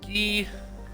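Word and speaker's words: Gei: So this is the planet I believe that's pronounced gay, right? G-E-I or Gee, it's gay. Like, it's Gee.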